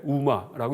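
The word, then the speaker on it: དབུ་མ: 티베트에 이 중간에 들어간 다음에 티베트에서는 여기 영어로 드부마라고 써놨지만은 티베트 말로 읽을 때 우마라고 읽습니다.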